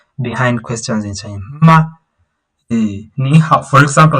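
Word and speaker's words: 你好: On hao, it's also a third tone, but it's this second hao is pronounced as a second tone. Remember the rule that we saw in HSK1. When two third tones or falling and rising tones are close to each other or together, one of them is sounded as the second tone.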